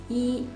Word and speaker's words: 一: The pinyin is written as yi instead of I. We put y in front of I, but it's still pronounced as E.